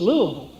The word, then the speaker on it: Louisville: lived in the south all my life it's Lulu like I said that's why I still so